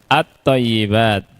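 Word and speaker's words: الطيبات: Kita ambil thyibat misalkan atyibat ya thayyibat alif lam ya tidak alif lam dibacanya al thayyibat atau thayyibat at thayyibat Ya, lihat alamnya tidak dibaca, tapi yang dibaca adalah huruf th ya.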